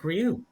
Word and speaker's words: Rioux: And right now, we are here with the team skipped by Rioux. Did I pronounce that right?